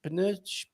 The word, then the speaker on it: pneus: It's like the French, isn't it? Pneu. And Portuguese, pneus.